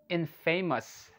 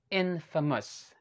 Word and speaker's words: infamous: We might say infamous. Okay, but the correct pronunciation of this word is infamous. Infamous. One more time, okay? Infamous. Yeah, correct. Okay, it's not infamous, it's infamous.